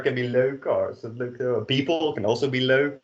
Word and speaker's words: leuk: So, het woord van de week is, again, try to repeat after me, leuk.